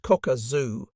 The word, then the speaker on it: Kakazu: Ridge at first glance kakazu pronounced Koka zooo did not seem especially